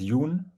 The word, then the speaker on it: Jon: actual name is well my first name would be pronounced Yun privately that's a Norwegian because they spell the O is like a u and then my my